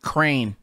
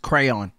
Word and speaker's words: crayon: I don't like when people pronounce crayon like crane. I don't like that. Or crane. Or crayon, crane. I don't like neither one of those. Just crayon.